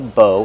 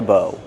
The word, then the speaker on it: bow: Again, this is the arrow and that's the bow. Together, a bow and arrow. How do we pronounce bow? Bow. Use a long O like no and go.